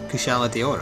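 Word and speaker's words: Kushala Daora: Kushala Deora.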